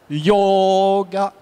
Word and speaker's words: yoga: plaît att yoga y en français l'accentonique est à la fin en sanscrit il n'est pas à la fin il est sur les longues et le O est un long parce qu' il réunit le a et le ou yoga